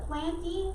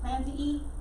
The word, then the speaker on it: plantae: So, plantae, it's going off Latin pronunciation, so I know it looks kind of like plantae, but plantae is how you say it.